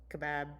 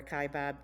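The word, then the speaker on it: Kaibab: the black suspension bridge at the Kebab Bridge or kibab kind of depends on who who is pronouncing that this is near Phantom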